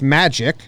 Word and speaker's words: Majid: Majid, pronounced Magic.